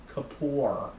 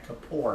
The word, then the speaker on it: Kapoor: Kapoor. Oh yeah, Kapoor, that's how you say it.